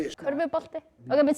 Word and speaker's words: körfubolti: Körfubolti. Okay, but say it with us. Körfubolti. No, I can't say that. But try it. Slow it down. Körfubolti. Curvebate.